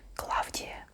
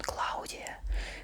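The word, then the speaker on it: Клавдия: not like but I'm okay with the Western pronunciation Claudia Claudia sounds nice and fashionable because of Cloudy shiver maybe but cloudy is terrible for me I don't know how Western pronunciation makes names more fashionable but it works again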